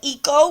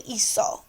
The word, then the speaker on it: hizo: The only reason why we changed the C to a Z is so we don't say hico, we say hizo. Okay? So we have hice, hiciste, hizo, hicimos, hicistes, hicieron.